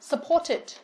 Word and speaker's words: supported: Vậy thì với D là supported, chúng ta sẽ đọc là it. Và khác với những từ còn lại, đọc là t.